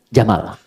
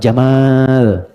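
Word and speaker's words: جمل: jantan maka namanya Jamal saya notis ya pendek bacanya Jamal bukan Jamal unta Jamal ganteng oke sifat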